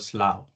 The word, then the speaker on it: Slough: He absolutely laughed his way out because in UK, UGH is generally silent. It is actually called Slough.